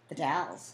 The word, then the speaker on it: The Dalles: How do you pronounce D-A-L-L-E-S? The Dalles. The Dalles?